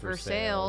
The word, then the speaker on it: Versailles: There's a town in Kentucky called Versailles, and it's pronounced Versailles, Versailles. yeah.